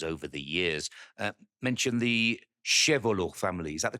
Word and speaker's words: Chevalier: Yeah, and I've heard you many times in many interviews over the years mention the Chevalot family. Is that the correct pronunciation? Chevalot, yeah, Chevalot.